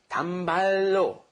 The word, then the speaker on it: 단발로: 단발, and then we have roll, okay? And what happens when you roll that together, it becomes 단발로, 단발로, okay?